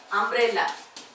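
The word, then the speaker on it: umbrella: अम्ब्रेला. काय अम्ब्रेला. अम्ब्रेलाचं उच्चारण कसं होतं अम्ब्रेला. अम्ब्रेला. अ ने उच्चारण सुरू झालं. सुरुवात यू ने झाली पण उच्चारण अ ने होते म्हणजे याच्यापूर्वी काय येणार आहे अँड.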